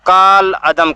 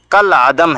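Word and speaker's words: کالعدم: عدم کیا جاتا ہے، لیکن اکثر لوگ اس کا تلفظ کال عدم کرتے ہیں، جو غلط ہے۔ دراصل یہ عربی لفظ ہے، اس میں کاف کے بعد الف لکھا جاتا ہے، لیکن تلفظ میں الف گر جاتا ہے۔ اس کا تلفظ کل عدم ہے۔ اردو محاورے میں کل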